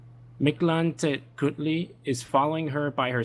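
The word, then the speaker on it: Mictlantecuhtli: Oh, sorry, I need to pronounce this correctly. Mictlantecutli is following her by her side and feels like she sees him at times.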